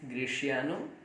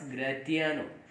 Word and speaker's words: Gratiano: The next character, that is Gratiano. Sometimes it is also pronounced as Gratiano, but it is not Gratiano. It is real pronunciation is Gratiano.